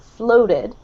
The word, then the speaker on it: floated: The second one is an O sound. So with an American accent, floated.